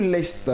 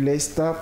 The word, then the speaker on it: lest: C'est lâcher du lest. Lest qui s'écrit comment? L-E-S-T.